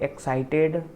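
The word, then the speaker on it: excited: देखिए यहाँ पे जब इंग्लिश वर्ड के अंत में टी व डी के बाद ईडी लगा हो तो उसे हमें ईड की तरह प्रोनाउंस या उच्चारण करना है।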